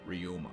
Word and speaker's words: Ryuma: it and uh and say his name properly ryuma so so they go and they're heading off